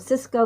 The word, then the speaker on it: Sysco: Cisco, you might have heard of Cisco. This one is SYSCO. There's another one that's spelled sort of similar, SICO, but this one's Cisco, SYSCO.